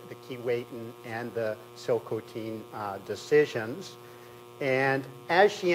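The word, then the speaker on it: Tsilhqot'in: for me phonetically that the correct pronunciation is actually Sil cotin not chil Cen um and just on this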